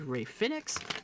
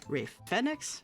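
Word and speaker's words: Rey Fénix: We have a fatal four-way for the North American Championship between Ethan Paige, Javon Evans, Lin Dorado, and Ray Phoenix. Ray Fenix, that's how you pronounce that.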